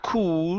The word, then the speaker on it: could: Leave your mouth open. Could. Could. There you go. Could. Okay. Yeah. So that if you're trying to pronounce an oo sound, okay, it'll come out wrong. It'll be could. It's not could, but could.